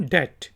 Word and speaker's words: debt: फिर वर्ड है जी DEBT और इसको हम प्रोनाउंस करते हैं डेट। इसमें ये वाला जो बी है ये साइलेंट है तो आप कहेंगे डेट।